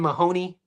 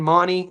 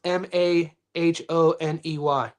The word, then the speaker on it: Mahoney: I know if you're in America, we pronounce it Ben Mahoney, but Azy's pronounce it Ben Mani.